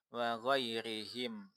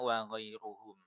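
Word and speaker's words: وغيرهم: Nah, ini saya ini saya kasih tanda wa ghairihim. Karena jangan untuk menandai jangan sampai pembaca membacanya wa ghairuhum. Nah, kenapa kok ada yang baca wa ghairuhum? Jangan pula dibaca wa ghairahum.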